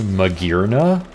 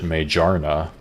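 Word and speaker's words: Magearna: I just, looking at the name, always pronounced it Majarna. Like, Mage Arna.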